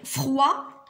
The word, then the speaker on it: froid: Froid. Maîtresse. Oui. D.